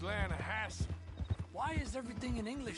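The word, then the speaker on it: Lannahechee: no no no the the lana hatchy it runs right near here yeah but it's pronounced land hassle why is everything in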